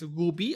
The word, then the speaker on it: RWBY: For the 15th of November, we have 4 figures from Ruby. Yeah, RWBY is pronounced as Ruby apparently.